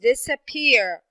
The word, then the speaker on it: disappear: How about the word disappear? Disappear. Yes, I have the first syllable, this, and I have the last syllable, which is the third.